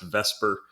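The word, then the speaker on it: VSEPR: to be talking about vesper theory as it's pronounced vesper but it's valence shell electron pair repulsion theory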